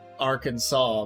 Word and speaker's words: Arkansas: was spelled and pronounced Arkansas. So, uh, they compromised that. The compromise was we'll pronounce it Arkansas, but spell it Aranansas.